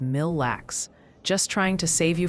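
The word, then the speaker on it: Mille Lacs: Oh, and a little birdie or several hundred chatters mentioned atkin is more like atkin and mil lax is mil lax.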